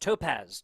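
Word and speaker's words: TopQZ: Yes, I was thinking it was Top QZ getting the advice there from Spicy in the chat, pronounced Topaz.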